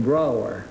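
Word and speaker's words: Brougher: James Whitcomb Brower. Brower, huh? Yes, it rhymes with B-R-O-W-E-R.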